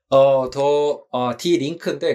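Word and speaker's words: Die Linke: 발음 어떻게 하죠, 윤탁쌤? 디 링크인데 그냥 더 레프트라는 뜻입니다.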